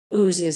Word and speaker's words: Ouse: of lose and that the present name is a contraction of luz with which it rhymes this claim is also supported by others formation the ooze is one of the